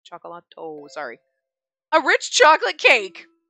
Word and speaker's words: cioccolato: I'm assuming it's supposed to be chocolate, but it's a cioccolata? Can't pronounce it. Cioccolato.